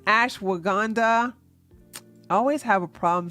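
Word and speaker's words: ashwagandha: me put it in the chat so it's Ash waganda I always have a problem saying this I'mma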